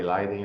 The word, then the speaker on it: Leiden: Leiden, eu falei Leiden, é Leiden. Tá É ótimo. Então, Leiden, é o correto, a pronúncia, né?